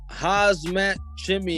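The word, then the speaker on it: Khamzat Chimaev: to the other one hazmat chimney have you actually said it correctly you don't pronounce the k i i don't want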